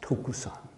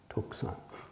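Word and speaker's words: 徳山: And it's a master who's pronounced his name in Japanese is pronounced Tokusan. Tokusan.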